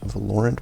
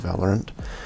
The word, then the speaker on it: Valorant: I've heard other people call it Valorant, but I think the official pronunciation is Valorant.